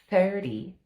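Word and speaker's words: thirty: you feel the air 30 when you say the the word 30. So 30 is a challenging one but now you know the trick. Don't say the t say it like a d.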